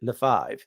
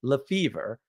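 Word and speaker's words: Lefebvre: we changed our name we don't pronounce it leive right or Le we pronounce it LEF fever because that's the American way which of course it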